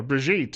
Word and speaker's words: Brigitte: As I mentioned earlier, Brigitte Gabriel, or Brigitte as she calls herself, it's a French pronunciation from her childhood in Lebanon, scheduled to join us tomorrow on the program.